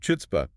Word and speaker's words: chutzpah: But the spelling starts with a CH. In Yiddish, that CH stood for the velar fricative.